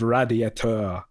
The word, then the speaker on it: radiateur: She was trying to correct his pronunciation of radiateur. You have to roll the R.